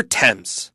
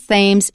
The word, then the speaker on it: Thames: It is not ths it's temps. There are a few words in English many of them proper nouns but not all. When you see th you pronounce it as t.